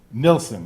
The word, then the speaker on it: Nilsen: We have with us a guest, Nilsen, right? Yes. That's how you say it.